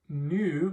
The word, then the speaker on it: nu: The next one, nu, makes the N sound. I know this looks like a V, but it's actually an N.